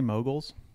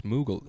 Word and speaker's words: Mughal: the border to pakistan are you trying to say moguls no it's it's moogle m-u-g-h-a-l oh oh hey you